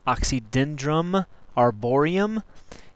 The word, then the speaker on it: Oxydendrum arboreum: sourwood scientific name is pronounced oxydendrum arborium and it is a member of the arier